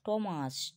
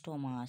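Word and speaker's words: Thomas: ও ইউ R hour টমাস টি এইচ ও টি এইচ ও এম এস টমাস তোমাকে কি থমাস বলছি না টমাস বলছি hair hair বলছি না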